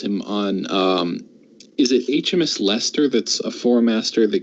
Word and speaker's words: Leicester: on is it HMS Leicester that's a four master that gets the to mess with one hit ability yeah sister it's Lester yeah thanks strange English pronunciation rules I would put Hargreaves